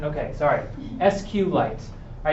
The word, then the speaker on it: SQLite: something called SQL Lite is it SQLite or SQLite huling SQLite is the proper pronunciation ok sorry s-cube lights all right so this